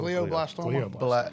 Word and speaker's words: glioblastoma: fundraiser, who has, and I always mispronounce this word, glioblastoma. It's glio. Glioblastoma.